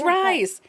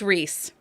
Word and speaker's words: Rhys: r-h-y-s and i rise yes rise it's actually wrong it's rhys i didn't know that